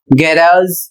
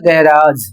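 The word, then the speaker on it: garage: जी ए आर ए जी ई और इसे गैराज झ पढ़ा जाएगा। इसे पढ़ा जाएगा गैराज।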